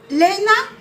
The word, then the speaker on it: Léna: Eh ben, Léna, c'est comme ça que ça se prononce?